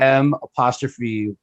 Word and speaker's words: Milwaukee: it's not just like it's like you take the IL pretty much out of it. You It's just say basically Milwaukee. M'WAUKE. So Really? Milwaukee is just how Okay. when you grow up, that's how you say it.